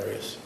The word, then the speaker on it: Arias: Have you always pronounced it Arias? I've heard it pronounced about 7 different ways. I say Arias, as does the rest of my family.